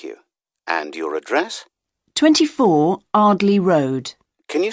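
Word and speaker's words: Ardleigh: Andrea Brown thank you and your address 24 Arley Road can you spell that a r d l e i g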